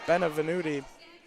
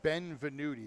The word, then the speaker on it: Benvenuti: Benevenuti. Definitely didn't say that one right. Not even going to try with Lakeland's, but 2-0 quick for Passaic Valley. It's Benvenuti. You got to say it correctly.